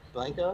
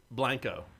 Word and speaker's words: Blanco: I just pulled it up on Wikipedia, and the pronunciation is B-L-A-N-G, Blang, K-O-H, Co.